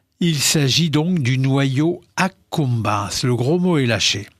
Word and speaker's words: accumbens: Moi, j'aurais dit acabans, enfin bon. Eh bien, donc, vous le prononcez en latin exact, restitué.